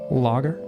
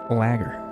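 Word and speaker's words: lager: Logger. Is it not lagger? Space booze. Cosmic cookies. That's how you pronounce it.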